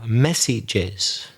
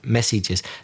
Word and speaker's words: messages: You needed to say the plural, messages, but you didn't pronounce the es at the end, messages.